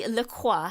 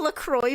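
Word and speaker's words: LaCroix: Only Lqua. However, it is considered correct for the brand matching the pronunciation of the aonomous St. Hua river which I am pronouncing the French way.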